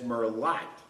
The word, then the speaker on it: merlot: going to be our merlot otherwise known in west texas as murlot they pronounce things a little bit different out there pinot noir instead of